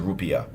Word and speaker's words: rupiah: We were converting in our head and on the phone the rupiah or the rupaya. People pronounce it different ways, but they generally pronounce it rupiah.